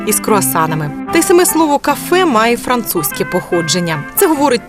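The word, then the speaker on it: Kaffee: них і замовляти просто кафе анеко для австрійців наголос у цьому слові треба робити саме на другий склад то це може означати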